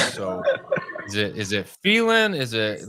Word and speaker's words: Phelan: Um, so I I I respond to that, but I Okay, I've always told people it's failing, like fail in.